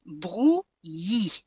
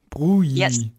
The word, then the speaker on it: Brouilly: You just have to push your E sound at the end. Brouilly. Brouilly.